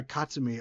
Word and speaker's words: Katsumi: Katsumi. So not Katsum. Ka Katsumi. I'm close. That's closer.